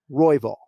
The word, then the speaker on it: Royval: he pronounces it brennan rival no so you're not emphasizing the second syllable syllable excuse me it's royvall and this is a